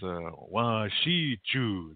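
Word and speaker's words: wašíču: So when you look at these Native American activists and they're saying English is wa shi chu, that's how they say it, yeah, wa shi chu.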